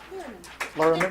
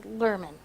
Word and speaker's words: Lirriman: Lirriman? Good. Okay. My husband pronounces it different. Does he? Yeah, and it was his first, right? So my husband says Lerman. Kind of like a slurred.